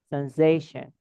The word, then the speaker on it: sensation: Where do we say a little bit longer? First sound or first syllable or second syllable or third syllable? Second syllable. Second syllable. Sensation.